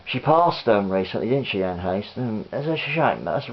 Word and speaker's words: Anne Heche: It stars, or it features, Anne Heche. I've only just recently found out that's how you pronounced her name. Yeah, she passed recently, didn't she, Anne Heche?